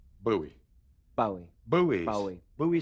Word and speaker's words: Bowie: it's much more masculine Bowie sounds like buttons and bows it's kind of certified